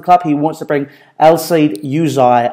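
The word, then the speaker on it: Elseid Hysaj: he wants to bring El Seid Yuzay, as I've been told that's how you pronounce it, the Albanian right-back, well, basically utility full-back, from Napoli to Chelsea with him.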